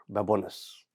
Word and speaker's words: Babones: Here in studio, I have got Salvatore Babones. Did I pronounce it right?